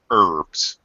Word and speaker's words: herbs: that Americans never do for Americans the H is always silent herbs hers okay yeah I